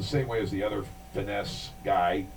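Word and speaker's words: Fiennes: the other finesse guy Ralph finesse pronounces It Ralph fines I think it's ra F you know it's really weird uh I I never really ized you pronounced it that way until recently I always in my mind thought it was Finn well there's another one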